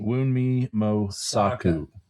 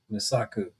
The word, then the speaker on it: Mosaku: Well, um, and I'm gonna say her name wrong. Woo! Emmy Wii wi wii moaku. Mosaku.